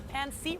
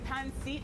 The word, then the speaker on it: pancit: I'm taking a pancit right now. Yes, I kept calling it pancit earlier, but the correct pronunciation is actually pancit.